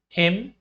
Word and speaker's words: hymn: In the words given below, the letter N is silent when it appears with M at the end of the word. Hymn, column, autumn, solemn.